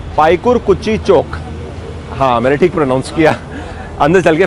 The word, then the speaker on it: Paikarkuchi: This area is called Paikarkuchi Chowk. Yes, I pronounced it right!